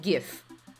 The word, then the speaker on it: GIF: inbred i pronounce it gif like anyone that pronounces jeff does not know how to pronounce the letter g like my god that's